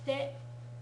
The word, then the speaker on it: 来て: Okay, kite, kite kudasai. The emphasis, kite kudasai. Kite kudasai. The emphasis is stronger on the te.